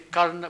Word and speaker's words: Karna: is going to be a South Indian this pronunciation of all the characters in the Mahabharata I don't say karna which I probably should but I say Cardinal